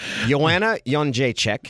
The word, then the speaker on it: Jędrzejczyk: But the card still, this card's so good, I think I've learned to pronounce a couple of fighters' last names. Joanna Jędrzejczyk.